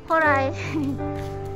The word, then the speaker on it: 宝来: ほら、ほら雨降った。トルマニさんもパキタンダタンダメラギネ。イニジュガ。何名前ついてるのかなこの色。ほらなんか書いてある。怖かったね、あの犬。hari ini hari terakhir kita di kota ini, kota Baurai. horai. Kota horai, baurai. Tulisannya baurai, bacanya horai.